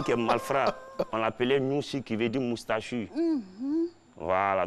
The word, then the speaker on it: Nouchi: Avant, le Noussi, quand on dit Noussi, c'est pas Noussi, mais on dit Nouchi. Nouchi, oui. Voilà, non, c'est pas Nouchi, on dit Nouchi. Nouchi. Voilà, c'est la bonne prononciation.